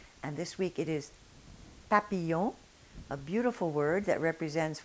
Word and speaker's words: papillon: And this week it is papillon, a beautiful word that represents one of the most beautiful things that nature created, the butterfly.